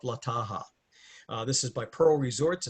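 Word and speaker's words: Taha'a: And you go over to the island of Taha. It's actually like Tahaha, but a lot of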